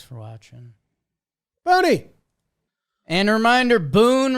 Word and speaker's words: Boone: watching bony and reminder Boon rhymes with spoon make sure you get